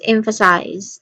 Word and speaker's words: emphasize: All right, pronunciation wise, this is emphasize. There's a buzzing sound here.